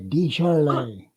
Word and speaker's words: Desjarlais: Say it like Beaujolais, Desjarlais, Desjarlais, Beaujolais, Desjarlais.